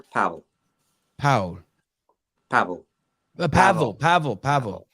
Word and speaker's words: Pavel: could be either way it could be Pavel or Pavel how do you say it I I prefer Powell Powell Pavel the Pavel